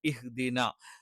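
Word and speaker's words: اهْدِنَا: ഹായാണ് പകരം ഹ ആയി പോകരുത്. ഇഹ്ദിന എന്ന് ഒരിക്കലും വരാൻ പാടില്ല.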